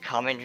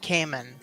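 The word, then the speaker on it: Kamen: The the guy's pretending to be common rider. He just has a mask on. And I'm pretty sure it's pronounced Cayman. Cayman. Cayman. Thank you. Thank you. Oh, like the uh alligator.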